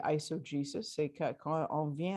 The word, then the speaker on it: eisegesis: Je ne sais pas si c'est la bonne prononciation en français, mais en anglais, c'est eisegesis.